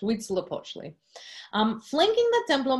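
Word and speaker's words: Huitzilopochtli: the other dedicated to and you guess read syllable II we'd slope Ashly that's correct we'd slip Ashly um flanking the temple of my yard are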